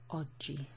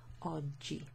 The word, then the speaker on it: oggi: Last word there, oggi. O-double-G-I, so when you have a G and an I in Italian, it makes a soft G sound, okay?